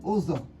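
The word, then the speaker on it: ụzọ: This one is O, your mouth goes down. Ozo.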